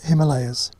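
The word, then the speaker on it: हिमालय: three came to the region of the him Himalayas in Sanskrit that's pronounced Himalaya Hima means snow and alah means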